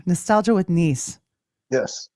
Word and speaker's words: Nese: Nostalgia with Nese. Yes. Just remember, I'm Japanese. And that's where the knees comes from. The knees. Nese. Yes. Nese. A lot Yes, of people Nostalgia with get it- Nese.